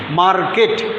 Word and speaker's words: market: MARKET, এটা আমরা গোটা করে বলি একবারে মার্কেট, এরকম বলি, তাই না? মার্কেট না, এটা উজ্জে থাকবে, কারণ এটা হচ্ছে ভাওয়েল আর এইটা হচ্ছে তোমার কনসোন্যান্ট। তাহলে এই আর এর উচ্চারণটা কি থাকবে? আড়ালে থাকবে, আড়ালে, মার্কেট।